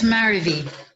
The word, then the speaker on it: Marivi: Yes, Marivi. Maravi. Rhymes with marry me. Marry me, marry me.